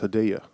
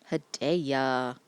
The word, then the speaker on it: Hedaya: According to an appearance on Conan O'Brien, it appears it's pronounced Hedaya. Hedaya.